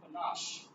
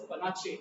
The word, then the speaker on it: panache: However, you use one of my favorite words, and that word is panache. Now, you mispronounce it as panache. It's not panache.